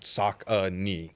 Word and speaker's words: Saucony: in like 1998 and they spelt it out sock a knee like phonetically like so you know